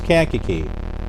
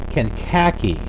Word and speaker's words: Kankakee: area then i'm sure you know how to pronounce kankakee but for those who were not from chicago did you know that it was pronounced as kankakee or did you or did you call it kenkaki did you pronounce it as kinkaki uh i